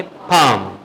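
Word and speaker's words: palm: जो मेडिसिन आप लोग आते हैं ठीक है पालम में पढ़ेंगे फाम ठीक है क्या पढ़ेंगे फम ठीक है फाम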